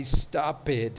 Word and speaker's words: stopped: Tem uma regra sobre a pronúncia do ED que diz que apenas em palavras terminadas com som de T ou D eu vou pronunciar o E.